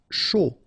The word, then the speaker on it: chaud: Chaud. Final D not pronounced.